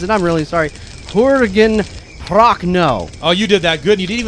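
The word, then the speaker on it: Jürgen Prochnow: Two big screw-ups on name pronunciations, and I'm really sorry. Jurgen Prochnow.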